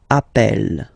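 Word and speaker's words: appelle: plural form Double L so when you get this a vowel and then you get a double consonant and well they are the same then it does change the pronunciation of uh you tend to pronounce it like e e really open that's the reason why you pronounce it app Appel okay Appel Appel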